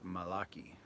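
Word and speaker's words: Malachi: It's pronounced Malaki.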